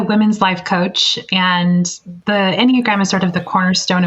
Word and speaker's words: Enneagram: Yes, we're excited to chat and get the scoop on, before I butcher the pronunciation of it, how do you say it? It's called the Enneagram. Enneagram.